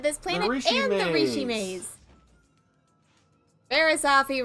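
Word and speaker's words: Barriss Offee: Barisafi rhymes with coffee.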